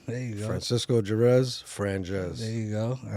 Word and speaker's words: Franjez: Franjez. It's a mix of my first and last name, Francisco Jerez.